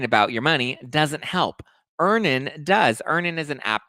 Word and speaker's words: Earnin: with my rent well download earning today it's spelled e a n i n you can download earnin